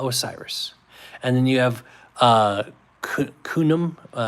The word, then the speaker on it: Khnum: And then you have Khnum, K-H-N-U-M, I'm probably not pronouncing it right, Khnum, guardian of the Nile.